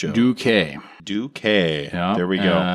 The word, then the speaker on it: Duque: Yes, it's pronounced Duk. Douquet.